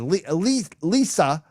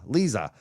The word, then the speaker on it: Liza: Lisa. I'm saying Larry. I keep screwing the name up. How do you say that? Liza. Lisa Colburn posted that. Liza. Oh, Liza. That's what I'm screwing up.